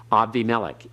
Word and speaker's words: Abimelech: For example, when you have the word Evimelech or Avimelech as a name, Abimelech, we say in English, Abimelech, Avimelech.